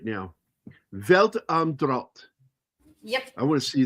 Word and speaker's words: Welt am Draht: Welt am Draht, yeah.